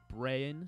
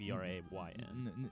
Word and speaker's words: Brayan: Brayan, so it's like Brayn.